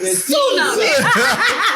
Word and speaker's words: tsunami: It started with a T. The T is silent. Tsunami. Tsunami.